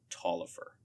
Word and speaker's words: Taliaferro: on the word egalitarianism um that is actually pronounced talifer great work sam good thank you thank you